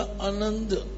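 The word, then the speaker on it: ਅਨੰਦ: न आनंद बोलि जाए ते जिथे ड़ा नना ददा है ों के नना नास की है नक बोलता है द उच्चारण होवेगा अनंद टिपी नहीं लानी स्ट्रेस नहीं देना अनंद रूप मंगल सद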